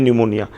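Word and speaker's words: pneumonia: न्यूमोनिया की spelling आप देख सकते हैं, स्टार्ट होता है पी से लेकिन बोलते हैं न्यूमोनिया।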